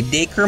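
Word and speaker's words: Dacre: role was won by daker Montgomery and yes that's how you pronounce his name acre with a D in front this film marks the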